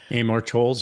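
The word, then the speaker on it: Amor Towles: Another another recent one is uh Armortols from a gentleman in Moscow. I'm not sure I'm pronouncing that correctly. Amar Tols.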